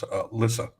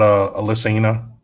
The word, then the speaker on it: Alyssa: That's Alyssa with an A. Howdy, Alyssa. Not Alyssina.